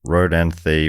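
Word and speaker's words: Rodanthe: just getting pronunciation notes rod and the with a soft th sound like the beginning of thought and made famous by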